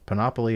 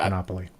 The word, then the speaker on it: panoply: for the first time, a panoply, I guess, panoply of high-ranking aides, attorneys, and allies have been named as co-defendants alongside Trump.